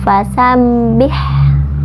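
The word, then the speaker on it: فَسَبِّحْ: dipukul kopitu Madiun kemudian fasabbih fasabbih diatas huruf pada tasydid jadi bacanya ditekan fasabbih ya Beh bihamdi Wihan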